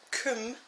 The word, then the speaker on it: KUM: up is this k m sharpener um it's pronounced Kum by the way just so that you know